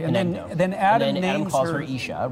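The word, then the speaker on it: אִישׁ: Yeah, it's ish, which is spelled Aleph Yud Shin.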